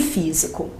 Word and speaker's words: físico: as palavras hábitos e físico Observe que nessas palavras o acento está aparecendo na anti penúltima sílaba se o acento